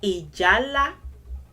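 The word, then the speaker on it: ìjálá: Ijala, ijala, ijala is how it is pronounced.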